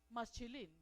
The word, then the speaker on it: Mashilim: Y cuando se habla en plural de aquella palabra masquil, se pronuncia maschilín.